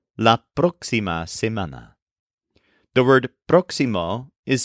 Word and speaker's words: próximo: say next week we say laima the word proximo is spelled p r x i m o with an accent over the O in the first syllable proximo for some reason this one tends to be